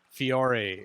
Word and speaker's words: Fiore: in the government and her name is michelle fiore is that am i pronouncing it correctly you are so in italian